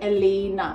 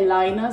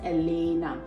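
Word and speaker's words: Elena: एलेना Chawla को, guys इसका नाम प्रोनाउंस होता है एलेना, आई थिंक आप लोग कंफ्यूज हो रहे हैं एलाइना से, तो we pronounce her name as एलेना।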